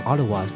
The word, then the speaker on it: Outaouais: These Cheveux Relevés, or literally high-haired people, are the same Ottawas that Champlain had met at the mouth of the French River in July. Their name in French, Outaouais, is pronounced Ottawa, and they spend the